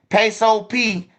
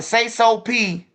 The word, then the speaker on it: Sayso P: man hey once again peso P um say so P I see I'm still saying his name wrong say so p is the one who got killed not peso peso peso peso still alive